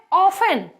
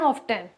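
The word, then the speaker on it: often: अब है ऑफन। इसको कुछ लोग पढ़ते हैं ऑफ्टन, कुछ लोग पढ़ते हैं जिन्हें नहीं पता है।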